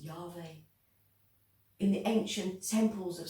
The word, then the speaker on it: Yahweh: Pronounced Yahweh.